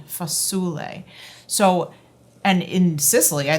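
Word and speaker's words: fasule: In the south of Italy, it's spelled f a s u l e. Foule.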